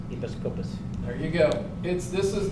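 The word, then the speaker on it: ἐπίσκοπος: Bishop is a translation of a Greek word called, and I had the guy pronounce it to me 25 times today, Episkopos. Episkopos.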